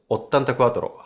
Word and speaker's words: 84: 84 is pronounced ottantaquattro.